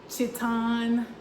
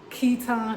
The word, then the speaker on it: chiton: on this, but it's like a chiton, chiton. It has like different pronunciations, chiton, chiton, that kind of thing, but it's a it's a undertunic.